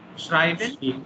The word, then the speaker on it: schreiben: You see the spelling also changing. Here it is E-I and here it is I-E. So this you have to keep in mind and accordingly you should pronounce. Schreiben and here it is Shreeb.